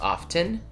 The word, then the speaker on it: often: Often is correct and often is correct as well. It is just it's not a silent T, but it is a weird phonetic occurrence.